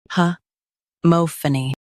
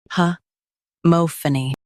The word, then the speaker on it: homophony: Today, we will learn how to pronounce the word shown on the screen. Huh mo-pha-ny Both US and UK have the same pronunciation of this word. Huh mo-pha-ny Now read the syllables shown on the screen naturally.